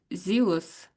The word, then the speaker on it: zealous: It's not a jealous, it's a zealous.